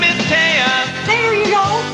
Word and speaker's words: Taya: Her name is Taya. There you go. It rhymes with Princess Leia, can't you see? Though it's spelled that way, don't pronounce it T.